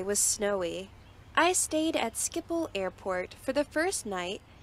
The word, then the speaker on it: Schiphol: I stayed at Schiphol Airport for the first night because we landed late and security personnel mistreated us and were racist towards us.